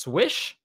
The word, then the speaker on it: SWSH: It's written SWSH, pronounced swish, or Pokemon S and more different S.